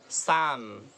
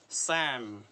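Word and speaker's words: psalm: Okay, सैम, सैम, सैम, सैम, L silent रहेगा इधर भी, P silent, सैम, wait a बिट, इट्स सैम, Sam.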